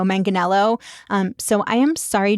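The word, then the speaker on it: Manganiello: Once we stopped recording, I looked this up and he actually pronounces his name Joe Manganello.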